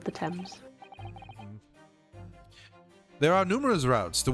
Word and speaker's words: Thames: Which should be pronounced Thames, by the way. Why is it Thames? It's Thames. If it was Thames, it should be T-H-E-M-S. English.